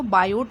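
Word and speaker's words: Biot: हैं ठीक है कि यह इंग्लिश में जब लिखा जाता है तो बायोट लिखा जाता है पढ़ इसे देती थी साइलेंट हो जाता है पढ़ते समय बायो सेवर्ट ठीक है माना एक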